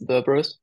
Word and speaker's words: Xerberus: Right, it's like the hellish dog with three heads, just with an X. It's Xerberus. And yeah, guys, thank you